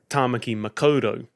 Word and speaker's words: Tāmaki Makaurau: Last episode I mentioned the Te Reo Māori name for Auckland, Tāmaki Makaurau. However, I incorrectly pronounced it Tāmaki Makaurau.